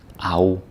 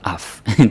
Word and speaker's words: af: It becomes au. It's not af. don't say af with any of these. That would be funny. Yeah, but incorrect.